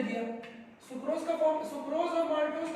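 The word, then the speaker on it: maltase: अब इसका एंजाइम है माल नहीं, मल नहीं, मलमूत्र, मैल्टेज। ऐसे बोलो मैल्टेज, गुड इंग्लिश, मैल्टेज। हाँ, ऐसे बोलो माल्टेज, गांव वाला है।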